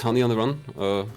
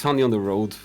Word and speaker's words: Hany on the Road: So I'd like to show you one of my favorite games, Hany on the Run. I always keep saying it wrong. It's Hany on the Road.